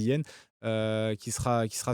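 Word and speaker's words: Hien: sans leur défenseur yen alors comment ça se prononce c'est h I e n je pense qu'on se dit ça se dit yen euh qui sera qui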